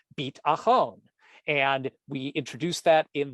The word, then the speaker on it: Beat'achon: a cappella group called Beit Achon. And we introduced that in the beginning of our presentation here. And lo and behold, here we are again, revisiting Beit Achon, B-E-A-T, like the Beatles, A-C-H-O-N.